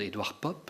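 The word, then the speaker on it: Edward Poppe: souffrant très souffrant c'est DV pop je prononce à la flamande Edward pop un prêtre et qui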